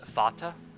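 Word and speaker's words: Vater: um and it's pronounced fatah so it's a v pronounced as an f but yeah volkswagen is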